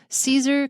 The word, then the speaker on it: Caesar: Wow, his name is difficult because you see CA and you want to pronounce it K. So the first one is and the second one is K, but they're both CA.